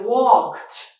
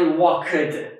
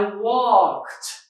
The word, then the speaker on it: walked: an unvoiced consonant, okay, we add ED, but we pronounce it like unvoiced T. Okay, unvoiced, unvoiced. For example, walk. I walked, not I walked.